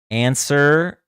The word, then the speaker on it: answer: Answer, right? We don't pronounce that W.